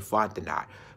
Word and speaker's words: Fontenot: That's she pronounced her name Fontenot.